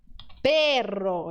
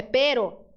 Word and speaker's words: pero: Mas, perro. Isso? Não, perro é cachorro, é pero.